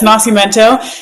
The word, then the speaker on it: Nascimento: Okay, I wasn't sure how to pronounce this guy's name, but it's Nascimento.